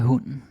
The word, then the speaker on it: hunden: Hvor gammel er hunden? Hvor gammel er hunden? How old is the dog? Well. Hvor gammel er hunden? Hunden. That's a silent E right there.